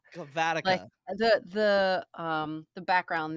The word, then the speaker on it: Cavatica: it's it's okay if not everybody does the pronunciation right it's cavatica cavatica the the um the background there is that